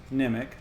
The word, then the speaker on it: Nimiq: I am Arnim and it's pronounced nimac apparently and just full disclosure